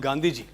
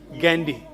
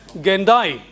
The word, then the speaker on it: Gandhi: British or American actors, they pronounced this word as Gandhi. Gandhi. And one of them has gone to the extent of pronouncing it as Gendai. Gandhi. See, unless he is told that how it is pronounced, he won't know.